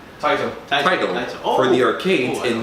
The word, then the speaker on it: Taito: Fun fact, the first racing game was called Speed Race and was released by Tatio, did I pronounce it right? Taito.